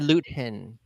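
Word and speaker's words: Luthen: been practicing Turkish and we kept saying loot hen not as in Newton yeah because in Turkish you pronounce every letter um I was I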